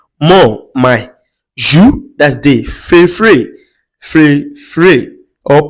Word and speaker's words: préféré: Préféré, pré- féré or préféré. Préféré rather, please. Sorry for that mispronunciation.